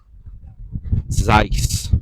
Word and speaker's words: Zeiss: camera Buffs out there Zeiss rhymes with Weiss Better Think Twice